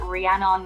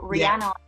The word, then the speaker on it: Rhiannon: want to clarify that my name is uh rhiannon rhiannon is a huge name so it's very unusual for people to uh uh pronounce so rihanna or h-i-a-n-n-o-n or k music